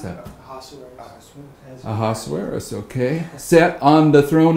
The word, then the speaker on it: Ahasuerus: days when the king Ahasuerus, how do you pronounce that? Ahasuerus, okay, sat on the throne of his kingdom, which was in Shushan the palace.